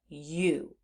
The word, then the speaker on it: you: are vowel team but they're not making their expected vowel team sound instead they're saying ooh and that's the part of this word that we need to know by heart so we have you you and the Heart